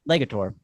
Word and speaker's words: Legator: Is it the the getter the garter guitars? Uh, it's uh, Legator.